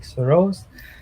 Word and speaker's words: Saroj: a different way so it's Saul and Rose and if you put together it just sounds like Soros so that's how my